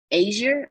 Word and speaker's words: Azure: So you have I always say this word wrong, so y'all work with me, but Microsoft Azure, or is it Azure? Azure. Is it Azure? I don't Azure. No. You said it right, Grace.